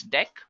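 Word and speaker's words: deque: So let's take a look at the next one that we have which is actually deck guys. It is written as dq but we can pronounce this as deck.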